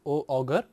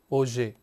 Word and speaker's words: Auger: Here we say that Auger, it is not pronounced as Auger, but it is pronounced as Auger, A-U-Z-E-Y.